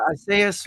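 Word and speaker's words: Esai: Is that how you pronounce his first name? S.A.? It's E-S-A-I. Yeah, Isaias Morales.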